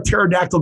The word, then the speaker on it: pterodactyl: can't you hear a pterodactyl go to the bathroom the P is silent that's right it's right